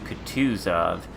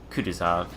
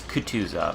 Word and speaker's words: Kutuzov: enjoys or contused of ice where it is pronounced could twos of but you know sometimes I slip a lot of people say Cudas off but it's Kutuzov all right anyway most other ships don't have